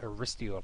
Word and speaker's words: Aristeo: aris steo now uh I'm not sure how to say this ariso or ariso so I'm going to go with ariso like Aristocrat so so ariso is uh